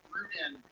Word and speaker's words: Rudin: It's Ruden, and I am from Long Island outside of New York.